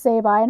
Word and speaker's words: Sabine: That they make it all sound like these guys don't know that it's supposed to be pronounced Sabine, ha ha ha, and it's like a funny